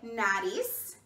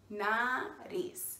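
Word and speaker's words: nariz: our nose good job can you say nadis nah at ease very good now let's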